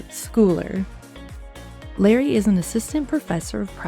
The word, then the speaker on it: Schooler: So I keep wanting to say Dr. Larry Schooler, but I'm keeping myself under control. It is Schooler.